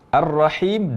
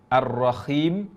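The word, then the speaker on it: الرحيم: yang maknanya maha penyayang jika diucapkan dengan ar-rohim maka maknanya menjadi suara merdu dan lembut maka pengucapan kata ar-rahim harus dengan hak tidak boleh ar-rohim dengan huruf hope contoh yang benar dalam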